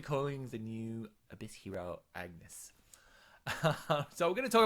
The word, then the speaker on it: Ignis: today agnes has dropped i'm calling this lady agnes because it sounds like agnes i know it's spelt with eye you probably say ignis but i knew a